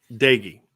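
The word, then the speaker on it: Doege: And how do you pronounce that quarterback's name? For West Virginia? Jared Dagey. Dagey.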